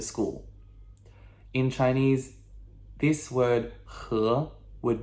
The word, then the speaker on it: 和: 和, okay? H-E with a second tone, okay? Ascending, questionable. What? 和, okay?